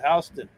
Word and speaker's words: Houston: But you know, Tim, there's a Houston here in Georgia, but they pronounce it Houston. It's spelled the same way too.